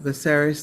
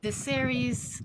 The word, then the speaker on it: Viserys: Some that I don't know how to pronounce, but we'll see. Ser Raymar, Viserys Targaryen, Redhead, Sarah Roderick, Bran Stark, and doing some action and descriptions.